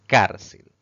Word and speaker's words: cárcel: Si separamos en sílabas, notamos que tiene 2 sílabas. Sin embargo, al pronunciar esta palabra, la mayor fuerza de voz recae en la penúltima sílaba contando de derecha a izquierda. Eso la convierte en una palabra grave.